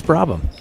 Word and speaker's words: Brabham: Emily, how would you pronounce that name? I even talked to Bryce. What's his number? It's Brabham.